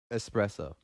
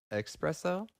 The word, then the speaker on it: espresso: correctly yeah hey yeah how do you say espresso espresso right I guess all along the way that I talked I was saying expresso my girlfriend Lindsay the